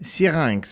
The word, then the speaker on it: Syrinx: Syrinx is how you say it, by the way, but we'll call it syrinx for the sake of this podcast.